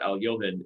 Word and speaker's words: Alekhine: to pronounce it but al yomen is actually the most appropriate pronunciation of alekhine for those who don't